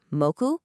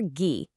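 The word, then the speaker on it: 木: The anomi is mouku or the kunomi is key or ghee.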